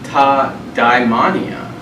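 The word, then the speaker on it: τὰ δαιμόνια: Pronounce it ta daimonia.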